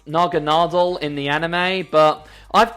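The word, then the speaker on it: Naganadel: favorite poison type pokemon of all time is naga nadel yes i am well aware that it's pronounced naganadal in the anime but i've called it naga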